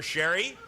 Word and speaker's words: Cherie: Okay, 175 so far for Sherry, whose name looks like Cherie, and I'm pronouncing it correctly, right?